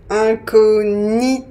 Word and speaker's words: incognito: on retrouve ça aussi dans le mot incognito incognito et d'autres mots de la langue française et